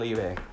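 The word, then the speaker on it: Liebe: Before she seals Liba away and leap. Alright, look, sometimes I don't forget how to pronounce his name, so let's just say it has two pronunciations, Liba and Libe.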